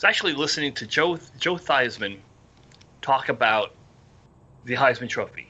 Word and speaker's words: Theismann: your name is joe thiesman and you need to change your name to joe theismann because it rhymes with heisman that's correct a lot